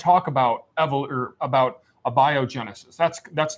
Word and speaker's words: abiogenesis: kent matt nice try on pronunciation but it's pronounced abiogenesis not the worst pronunciation i've heard but close